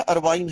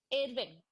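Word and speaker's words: Irving: जो जगह है वो इरविन है या अरवाइन है? इरविंग, इरविंग, अरवाइन नहीं है, इरविंग। अब people pronounce on their way, बट इरविंग, Americans भी इरविंग ही बोलते हैं, नॉट अरवाइन।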